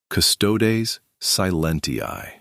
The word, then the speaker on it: Custodes silenti: Pronunciations. Nephilim. En FF lim. Custodes silenti. Custodes silenti.